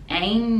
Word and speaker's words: ain't: no way and ain't the t is silent because it connects with no ain't no way that I